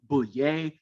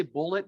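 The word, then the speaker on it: Bulleit: And so I'm pronouncing his name Bullet. His family actually spells his name B-U-L-L-E-I-T. He inverted those. So some people pronounce his name Bouillet, some Bouillet. I say Bullet because this family still exists. So if you've ever heard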